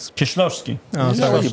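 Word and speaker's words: Kieślowski: We're going to talk about Krzysztof Kieslowski's. Colors. Kieslowski's. You said that pretty good. No, I think I got it wrong. Krzysztof Kieslowski's.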